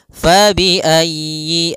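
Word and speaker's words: فَبِأَيِّ: usahakan huruf yanya ditekan fabiayi Yi ayyi kemudian yiinya pendek jangan dipanjang jangan Yi A tapi langsung saja fabiayi ala Kemudian pada lafal a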